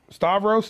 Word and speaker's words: Stavros: that he tries to the who uh starve Stavros is that how you say his name yeah